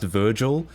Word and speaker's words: virgl: um something called virgl virgl I think it's supposed to be pronounced Virgil but every time I say that people say they think I'm I'm saying um I'm virgin so I'm going to say virgl instead uh virgl is